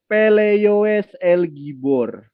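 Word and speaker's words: פלא יועץ אל גבור: Nah, ini yang saya blok ini dibacanya Peleioes El Gibor, ya. Jadi kata Peleioes itu artinya penasehat yang ajaib. El Gibornya jangan dipisah, Bang.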